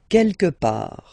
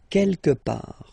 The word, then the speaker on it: quelque part: Quelque part. Don't pronounce the final T. Quelque part.